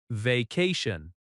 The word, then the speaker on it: vacation: Vacation. Vacation has stress on the second syllable. Va ca tion. That ca sound is strong.